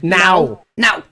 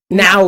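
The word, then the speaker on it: não: Oh, but like, it's so funny because I will pronounce no to Nisa in how it's spelled in Portuguese. I'll say N-A-O, like N with an accent on it. O. Now. No, Gabriel. Now, Gabriel. Now. Bottom line, I can't help but like almost say it like a Brazilian would.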